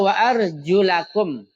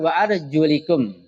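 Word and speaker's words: وأرجلكم: Beberapa ulama seperti Nafi, Ibnu Amir, Hafs, Kasai dan Yaqub itu membacanya wa arjulakum, bukan wa arjulikum. Wa arjula. Jadi pakai fathah, namanya nasab atau mansub. Bukan wa arjulikum yang majrur atau khafad.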